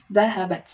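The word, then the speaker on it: ذهبت: Jadi dia dahaba kemudian ditambahi tak sukun. Jadi dahabat.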